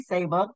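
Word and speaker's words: Saba: one is Sab lot of people might say sabba but it's actually Sab pronounced it Sab this is a I consider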